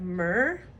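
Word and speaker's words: myrrh: and happiness and then we have mer which is spelled m y r r h magical names are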